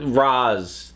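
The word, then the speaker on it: Ra's: the bat Rachele ghoul is back of a Roz that pronounce it Roz in the spike aunt after the episodes ends I can never remember in this weather they're pronouncing it Rea sure Roz uh in any case he's back the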